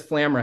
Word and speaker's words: Flamera: I've learned, I love making all these headsets, but even this Flamera headset, which is how we pronounce it on the team, the Flamera headset, we didn't build it in 2 weeks.